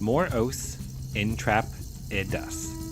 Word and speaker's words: Moros intrepidus: Moros Intrepidus, pronounced Moros Intrepidas, lived approximately 96 million years ago during the Mid Cretaceous period in what is now North America.